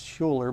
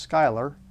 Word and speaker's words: Schuyler: ministry it is a i thought that was schuler but it's actually pronounced schuyler from what i understand a nice very nice